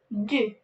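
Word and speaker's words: deux: 0, 0, 1, 1, 2, 2. X at the end is silent.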